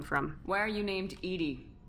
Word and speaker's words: EDI: the name come from why are you named edie edie is the phonetic pronunciation of edi that is an acronym for